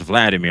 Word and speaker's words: Vladimir: Now, I think they they mispronounced Vladimir. I think this is like the Japanese if someone Japanese is trying to say Vladimir because you know, the Japanese they pronounce V as a B.